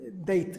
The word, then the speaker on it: D8: Bueno, se pronuncia Date, ¿no? Como Date, D8, ¿no? De cita, vamos.